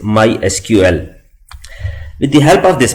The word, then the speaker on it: MySQL: supported by Oracle Corporation we can call this product as my sequel but the official way to pronounce it is my SQL with the help of